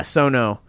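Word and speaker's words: Sion Sono: Yeah, Sono.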